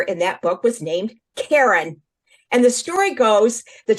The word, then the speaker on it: Karen: got my name now my name is pronounced Karen in English but when I moved to Israel I learned that my name in Hebrew is pronounced in the middle and I thought whoa